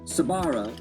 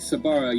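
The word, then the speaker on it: Sbarro: it yeah you know there's an S and A B together how many words have those two my mom Tau me that the S was silence we just called it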